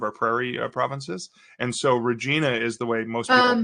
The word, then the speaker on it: Regina: in one of our Prairie Provinces and so Regina is the way most people pronounce that right I want to answer this